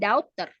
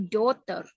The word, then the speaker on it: daughter: Nah, jadi ketika pronunciation-nya daughter itu sound-nya lebih ke O daripada ke A. Bukan daughter, tapi daughter.